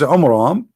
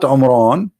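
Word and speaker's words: Amram: So Muhammad, he could not even copy the name correctly from the Bible about the father of Moses, which is Umram, not Umran.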